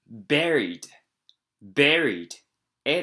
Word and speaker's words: buried: 正しい発音は buried。A ですね。A の buried みたいな感じです。そこに R と B の発音を入れると buried。すいませんでした。They were burnt or otherwise quickly disposed of.